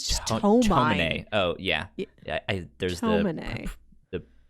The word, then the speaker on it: Tomine: So let's talk a little bit about the adopted brother, Issei Tumine. I believe is how you say his name. They put an extra O in it here on Wikipedia. It says just Tomine.